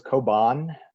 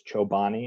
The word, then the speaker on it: Koban: So my village was Koban. Everyone thought it was Chobani, and I was like, nope, that's not how that is pronounced.